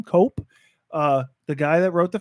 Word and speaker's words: Koepp: This was written by the David Koepp, I guess is how he pronounces his name, Cope.